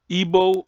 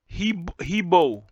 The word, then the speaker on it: Igbo: Igbo people sometimes pronounce Igbo or Heebo.